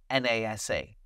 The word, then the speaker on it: NASA: It's a little easier, unless you know that it is pronounced as a word. For example, NASA, N-A-S-A.